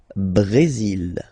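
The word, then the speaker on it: Brésil: only mexic okay Brazil brail okay you will pronounce the final L here and then remember ACC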